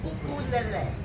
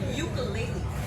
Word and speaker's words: ukulele: But the U is always pronounced U, and the E is always pronounced S. So ukulele.